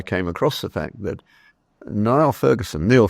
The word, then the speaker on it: Niall: Just last week or so, I came across the fact that Neil Ferguson, he pronounces it, but spelt Niall, has acknowledged the need